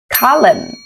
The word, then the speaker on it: column: Thông thường letter N sẽ bị câm. Ví dụ autumn, autumn, column, column.